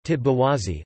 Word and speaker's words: petite bourgeoisie: Petite bourgeoisie, French pronunciation, petite bourgeoisie, literally small bourgeoisie, also petit bourgeoisie, is a